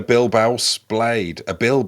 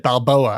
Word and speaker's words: Bilbao: He had a Bilbao blade. That's not how Chris pronounced that earlier, so that's going to make the edit interesting. If that's the word Chris was saying, because I think you said Balboa, as in Rocky.